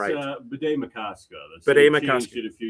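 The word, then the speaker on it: Bde Maka Ska: Um I can't get the pronunciation right. Bed Macausa.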